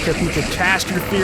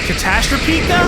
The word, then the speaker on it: Catastropika: Havoc this isn't exactly going to be like catastrophy I don't even remember how to say it catastropika oh yeah there you go but it still